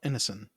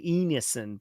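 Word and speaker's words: Ineson: a booming voice, and I always mispronounce it, so I'm going to have to pull it up a I believe it's Ralph Innocent. Yes. I for I always want to say Enison, but I don't I don't believe that's correct.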